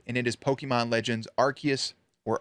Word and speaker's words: Arceus: It came out January 28th, and it is Pokemon Legends Arceus, or Arceus, depending on how you say it. I like to say Arceus, which came out for the Nintendo Switch.